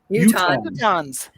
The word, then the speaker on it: Utahns: Utahns.